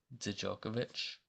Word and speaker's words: Djokovic: And they also brought in Djokovic, that's how you say it, Laser Djokovic from Charleston, who averaged 8 and 6.